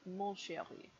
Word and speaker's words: mon chéri: Follow with my darling, to a woman, ma chérie, to a man, mon chéri. Mon chéri, the N is nasal.